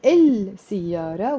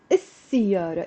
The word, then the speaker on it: السيارة: So instead of saying السيارة, we have to say السيارة, even if we are writing the L.